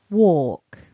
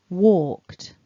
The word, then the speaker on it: walk: the right hand side there is no l in the phonemic script so we don't want to pronounce an l listen and repeat walk walking walked walker one more time